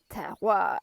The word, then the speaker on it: terroir: We've been talking about terroir. You know how to pronounce terroir, like terre, a bit of paper, and oir, terroir.